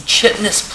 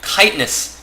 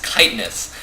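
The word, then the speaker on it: Chitinous: this is wait wait kitness kitness plating I'm pretty sure the pronunciation for that is kitness correct me on that one if I am wrong but I believe it is kitness plating uh going down on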